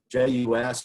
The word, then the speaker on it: jus: So J-U-S is pronounced jus, and L-I-E is lié.